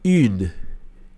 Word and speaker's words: une: Então faz o biquinho U. E aí você termina de pronunciar. Então fica une.